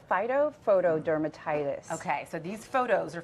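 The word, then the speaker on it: phytophotodermatitis: it's a very official name how do you pronounce so it's called phyto foto dermatitis okay so these photos are from the Centers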